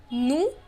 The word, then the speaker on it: nous: Now in the plural category, there is nous meaning we. Remember, in French, we do not pronounce the last consonant.